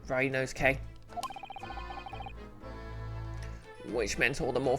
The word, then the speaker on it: Ryunosuke: I need to remind myself, his name is pronounced Ryunosuke.